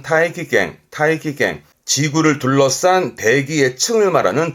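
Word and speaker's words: 大気圏: 대기권, 발음은 타이키갱.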